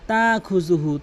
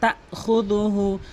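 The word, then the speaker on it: لَا تَأْخُذُهُ: কয়ুম লা তাখুযুহু, অধিকাংশ লোক লা তা খুজুহু, তা খুজুহু বলে। এখানে হামজা রয়েছে, হামজার উচ্চারণ করতে হয় তা খুদুহু, লা তা খুদুহু সিনাতু।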